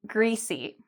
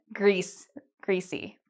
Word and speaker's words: greasy: So oily and greasy. For this one, you actually have to smile when you say it. So just like cheese, greasy.